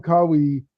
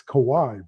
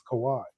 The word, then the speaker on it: Kawhi: Like 3 days ago, I'm sitting there talking to him, and we're talking about Kawhi. And he goes, and he says, first he calls him Kawi, then he calls him Kawhi, then he calls him Kawi.